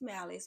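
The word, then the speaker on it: Malace: I wanted to change my name the pronunciation and actually go by how it's spelled. So my name is Malice but it's spelled M A L A C E.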